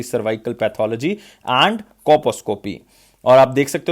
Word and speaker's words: colposcopy: इसमें एल जो है वो साइलेंट रहता है बेसिकली, कोपोस्कोपी।